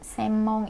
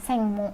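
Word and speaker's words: 専門: Karena huruf eng ketemu M itu dibacanya jadi M, mendengung. Semmong jadinya, bukan sengmong. Bisa sengmong atau enggak semmong, tapi orang Jepang lebih seneng nyebutnya semmong.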